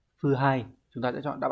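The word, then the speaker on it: 腐敗: Các bạn thấy phần gạch chân Hán tự là chữ hủ và chữ bại, như vậy sẽ đọc là phư hai.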